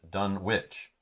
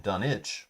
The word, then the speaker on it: Dunwich: to for dunwich horror said dunwich when the narrator narrator spoke and done itch when people from the town spoke hope that helps hello